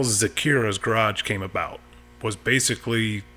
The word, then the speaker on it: Zakira: And my kids' names are Zach and Kira. So it's ZAKIRA. Yep. A lot of people mispronounce it, and once you know where the name comes from, that fixes that.